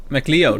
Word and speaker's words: McLeod: Yeah, so you have to put the emphasis on the L, no? McLeod.